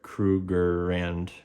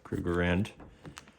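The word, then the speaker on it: Krugerrand: Let me pronounce this right. Krugerand. Yeah, Krueger Rand.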